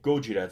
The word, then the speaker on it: Gojira: would you read it we would say Gojira that's how they change it but it's funny because